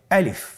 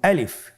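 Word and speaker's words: ألف: তাহলে এটাকে কি বলে আলিফ আমাদেরকে বলতে হবে বলুন আলিফ আলিফে কিন্তু কোন টান নেই আপনারা বুঝতে পারতেছেন আমি যখন আলিফ বলছি এর মধ্যে কোন টান হবে না। আলিফ আবার বলুন আলিফ।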